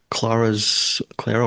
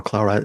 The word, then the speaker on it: Clara: And without giving too much away, how did you play Clara or Clara? I like pronouncing it either way.